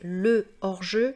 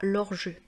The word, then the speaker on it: hors-jeu: français, et bien hors-jeu, hors comprend un H aspiré, donc en fait, je dois dire c'est le hors-jeu et non pas l'hors-jeu.